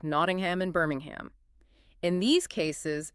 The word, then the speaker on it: Nottingham: It's found in hundreds of names like Nottingham and Birmingham. In these cases, it is correctly pronounced ham, Nottingham.